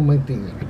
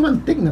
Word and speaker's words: Mantegna: me gusta como habl yo lo pronuncio mantegna Tú dijiste mantegna que yo lo escuché en inglés una vez y ahí camb yo también decí yo mantegna es como que la gn hace sonido de eñe manteña manteña es como